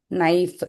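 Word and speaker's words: knife: Very Neil good down சொல்லுவோம் இல்லைங்களா நீல் down நைஃப் K silent very good.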